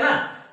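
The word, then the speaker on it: know: असणे मग तुम्ही म्हणणार सर या नो च स्पेलिंग मध्ये कचा उच्चार होत नाही म के कसा आला बघा इंग्रजी मध्ये ए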